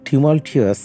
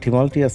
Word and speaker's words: tumultuous: during the টিমালটিয়াস 60s, উচ্চারণটা হবে during the tumultuous 60s, soon after the language